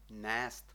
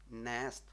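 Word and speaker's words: nést: ми мали коротке е тепер маємо довге е у слові нест нест означає нести мусимо трошки потягнути Отже філологія або філологічна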